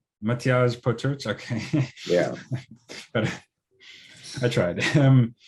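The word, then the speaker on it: Matjaž Potrč: you've developed with, I'm not sure I could pronounce his name correctly, Matjas Potrach, something. Matjaž Potrch. Matjaž Potrch, okay.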